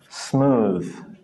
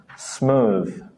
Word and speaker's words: smooth: you get the answer there's just one voed one and that's number four smooth the others breath Faith length they just come from here they don't come from